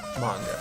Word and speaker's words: manga: manga should be pronounced manga, not manga.